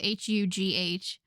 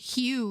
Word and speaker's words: Hugh: a name tag and couldn't pronounce it because in French all of those letters are silent.